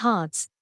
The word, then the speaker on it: HRTS: new capabilities enabled by the hrts pronounced hearts utility token in contrast